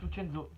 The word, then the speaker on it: Lucenzo: Lucenzo, on parce que ça se prononce Lucenzo.